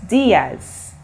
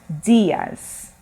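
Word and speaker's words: días: me buenos dias okay if you look at the spelling for diaz it's d-i-a-s and do you see a little accent over the eye for spanish words when you see that accent you have to stress on the sound so for the i you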